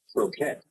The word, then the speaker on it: croquette: Cro- Croquette, is that what you say? Croquette.